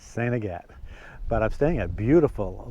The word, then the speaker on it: Saint Agatha: night in saint agatt if you look at how they spell that it looks like saint agatha and some probably do pronounce it that way but up here in aroostook county it's sanigate but i'm staying at